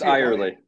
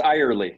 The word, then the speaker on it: Eyerly: episode wait ever or i was gonna say everly but it's how do you pronounce it now because it's eye early what's that it's eye early yeah entirely i was gonna see everly that